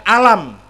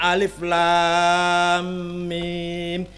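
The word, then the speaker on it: الم: Bacanya Alif Lam Mim. Iku jenenge mad lazim harfi mutsaqqal. Sing ngomong ngoten niku dudu Kanjeng Nabi, dudu sahabat. Sing ngomong ngoten niku ulama ahli tajwid. Kudu diwaca dawa.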